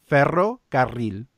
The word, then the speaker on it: ferrocarril: Yeah, like a trolley in Spanish has double rolling of the R. It's ferrocarril. Ferrocarril. So you have to roll your R twice in the word.